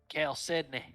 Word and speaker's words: chalcedony: the rule 20 chat google says it's chalcedony okay kale sydney it's like kelsey you you better cal